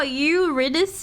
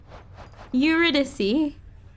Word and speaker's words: Eurydice: Oh, Eurydice is how you say her name, not Eurydice. Where's she at? Eurydice.